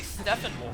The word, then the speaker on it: Steppenwolf: we got to see steppenwolf now however either with f where you actually pronounce the p sounds up next are we